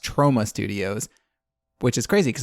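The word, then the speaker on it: Troma: I had been saying that they were from Trauma Studios. It has been pointed out to me that that is actually pronounced Trauma Studios, which is crazy because I'd only ever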